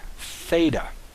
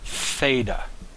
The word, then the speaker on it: theta: Next letter is the letter theta. Theta. Simple. You have a loop with a horizontal line through it. This makes a TH, a th sound. Theta.